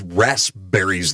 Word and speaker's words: raspberries: a chemical that gives raspberries their flavor that's right i said rasp berries rasp that's right you got to pronounce the p the rasp berries uh